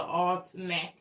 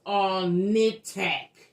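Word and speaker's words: Alnitak: We I mispronounced this name of this planet. Okay. I call it Alac. The name of the damn planet is all nitac. Damn near close, but it's all nit.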